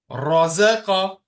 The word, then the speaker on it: رزق: ترك Now words with thick and high letters. Razaqa, razaqa, khalaqa, khalaqa, balagha, balagha.